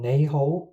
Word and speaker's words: 你好: ネイホは豪世と 2 の字で構成されています。マッピングによると正しい発音はミファファソです。